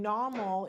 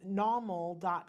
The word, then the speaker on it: Nawmal: okay and so for those who are listening Namal is spelled na WMAL you can go to normal comm and so Paul you have something well